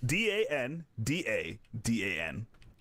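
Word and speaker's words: Dandadan: No, So- D A N D A N D A D A N. Yes. How dare you spell it wrong?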